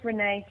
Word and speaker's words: Renee: thing I've got to ask you is the pronunciation of your first name is it re Renee yeah so yeah is Miss Renee Simone Renee Simone that's lovely what a beautiful